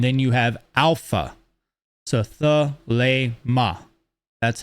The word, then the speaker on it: Thelema: This is the long A sound that you're hearing in this. Then you have mu, and then you have alpha. So Thelema.